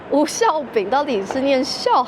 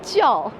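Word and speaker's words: 酵: Is unleavened bread pronounced as xiao or jiao ? Basically in Taiwan, the Mandarin dictionary says xiao.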